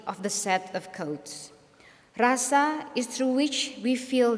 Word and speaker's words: rasa: our experience and existence it is Rasa the Japanese pronounce it little bit different ly and regard Roso very highly in their